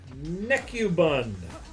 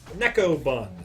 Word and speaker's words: Necobun: Rick Necubun. Necobun is how you pronounce that.